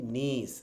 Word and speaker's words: niece: তারপর হচ্ছে কি নিস, NIECE, নিস, নিস, ভাতিজি, তারপরে ভাগ্নি, এটা হচ্ছে কি নিস। আমরা অনেকে এটাকে নাইস বলে ফেলি, উচ্চারণটা ভুল, এটা হচ্ছে টান হবে, হবে কি নিস, নিস, নিস, মনে থাকবে।